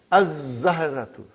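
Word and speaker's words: الزهرة: We won't pronounce lam. Why? Because it is a sun letter. Huh? And then, brother, az-zahratu, the flower.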